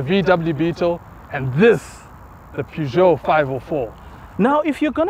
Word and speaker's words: Peugeot: the back seats, it's only right that we pronounce this car properly. Okay. Peugeot.